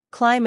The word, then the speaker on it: climb: have the silent B it's often silent when it comes after M at the end of a word examples include comb thumb